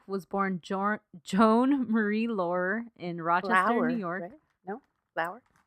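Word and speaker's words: Laurer: born John Joan Marie Laure in Roger York no flower I heard it pronounced Laura okay maybe that's how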